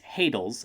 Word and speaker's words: hadals: by these Subterranean humanoids these hadals as they're called rhymes with cradles and is subsequently able